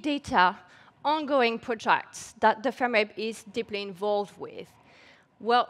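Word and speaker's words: FMRIB: I belong to the Oxford University FEMRIP Center. That's how we pronounce it.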